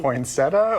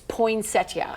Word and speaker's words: poinsettia: Poinsetta or poinsettia? Oh, that's I thought you were going to ask me a different controversial. Okay. Okay. So, phonetically, it's poinsettia.